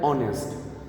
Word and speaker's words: honest: हमारा ऑनेस्ट होता है इसमें हमारा H साइलेंट होता है, तो हम इसको प्रोनाउंस कैसे करते हैं? ऑनेस्ट. तो हमारी O की साउंड आ रही है, that is वाई I have used indefinite article N.